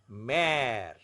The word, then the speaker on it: mère: But whenever aksa grave is used on E, it becomes the more flattened pronunciation. Père, mère, frère.